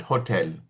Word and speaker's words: hotel: So, that's uh So, they will We'll call it hotel. We'll try to pronounce the H correctly. They have difficulty. Even now, if you see every Italian, he'll say, "Better you're saying so and so and so hotel." Hotel, they'll say. Because as if H is silent for them.